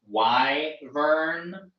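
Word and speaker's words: wyvern: I think says they pronounce it Y Vern. Okay, that's the way I pronounce it. Y also does Y Vern.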